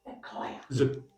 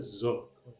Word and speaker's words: sequoia: Sequoia. Sequoia. I almost said zoquoia, but sequoia.